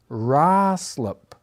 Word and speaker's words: Ruislip: I'm sticking with Ruislip. Okay, here we Let's- I go. feel good Here we about go. It's Roslip. Roslip. Roslip. Roslip. I don't see any A's there, guys.